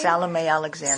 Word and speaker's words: Salome Alexandra: you say her name salame Alexandra salame Alexandra but Jewish people called her shalom cion shalom how did you